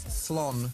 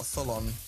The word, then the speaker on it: triathlon: It's No. It's thlon. Thlon. It's not tholon. Okay. It's thlon.